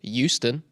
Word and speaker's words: Houston: My dad doesn't pronounce the H in Houston, so it's Houston.